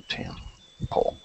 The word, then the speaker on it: temple: Stress, temple, and the second one. So it's temple. Temple. It's actually the first one, so temple. The first one, temple.